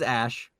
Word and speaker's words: Ash: Their name is Ash. Okay. It rhymes with trash.